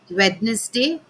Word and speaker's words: Wednesday: it is comfortable, receipt, Wednesday. The D is pronounced in Wednesday, and entrepreneur.